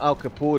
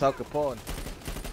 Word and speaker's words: Al Capone: I just realised that it's not Al Capone, it's Al Capone. As in pawning.